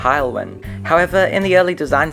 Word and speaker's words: Haulwen: My model isn’t based on any particular real-life example, although I did take inspiration for the livery from number 5272 “Haulwen” (pronounced Hile-wen).